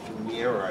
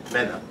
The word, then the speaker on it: Mena: For Florence Mira, I believe is the correct pronunciation. Mena. They claim pages 45 and 53. This is page 53 of the petition. She doesn't appear as the county committee candidate. Florence Mena. M-E-N-A.